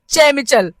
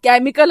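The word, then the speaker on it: chemical: जाऊन काय वाचून आला चमचल म्हणजे के च प्रोनन्सिएशन जे असत ना ते सी मध्ये केल असं काहीतरी आणि येऊन मला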